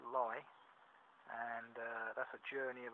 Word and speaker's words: Leigh: believe West Sussex walking across to Lee pronounced lie and that's a journey